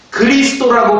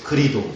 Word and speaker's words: 그리스도: 이름을 바꿨는데 왜 기독교입니다 그리스도라고 발음하지 않습니다 뭐라고 발음하죠 그리도 그리도 저는고 이 사투리를 많이